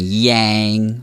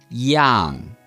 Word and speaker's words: iang: Now, please note this is not pronounced like an English-sounding yang, which is often how it's said in the media. It's pronounced like this, yang.